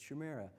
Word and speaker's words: Chimera: So, I actually went to Chimera and asked them and I said, "How do you pronounce this?" And they said, "It's Chimera."